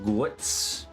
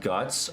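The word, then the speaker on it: Götz: Bir burlet shingen also known asenf guits German for iron fist guits is pronounced guts.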